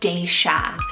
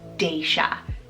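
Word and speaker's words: Daysia: Second D name is Daisha, spelled D-A-Y-S-I-A, Daisha.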